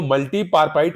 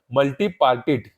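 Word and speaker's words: multipartite: तो इसका सही आंसर है आपका ये जो मल्टीपार्पाइट वायरस है ना, मल्टीपार्पाइट, ये वजह जो है क्या होता है आपका, दोनों को जो है मल्टीपार्टिट, ठीक है, इंग्लिश में यहां पर सही प्रोनाउंसिएशन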